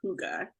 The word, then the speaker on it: hygge: Yeah, the word that would come into my mind is hygge. I had to look up how to say it because I know how you spell it. It's Hygge, but it's pronounced hygge.